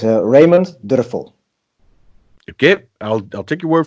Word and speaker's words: Dörfel: Raymond now door 'fl is how I would say it as an American but your last name is not at you're actually pronounce it how do you preside you pronounce your name please it's actually a German surname says Raymond did a